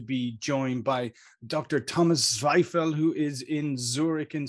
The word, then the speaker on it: Zweifel: name you know thank you my last name zweifel that you pronounce correctly uh is actually called oh wow